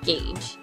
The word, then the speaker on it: Gage: not The Telltale one Gage it was on the NES like cage but with a G Gage okay you don't oh